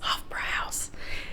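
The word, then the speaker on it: Hofbräuhaus: hofra house did I say it right yes hofra house that was cool so not a Beer Drinker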